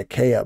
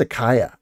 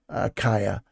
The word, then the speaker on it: Achaia: I think some people say Achaia, but I think it's Achaia is a better pronunciation. The AI should be an I, Achaia.